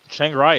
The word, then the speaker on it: Chiang Rai: Chiang Rai is heavily slept on, mostly because it rhymes with Chiang Mai, and I think people